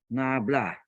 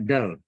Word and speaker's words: nabla: Ini bacanya ya, ini bacanya adalah nablah. Nablah atau bacanya del. Del ya. Nablah atau del.